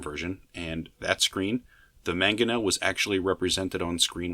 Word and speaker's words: mangonel: I believe it's pronounced mangonel.